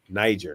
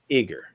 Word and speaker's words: Niger: The pronunciation of Niger is Niger, not Iger. It's Niger.